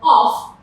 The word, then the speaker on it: off: Take note, when pronouncing this word off, you have the f sound. But when pronouncing v, when you're pronouncing of, it's the schwa and v.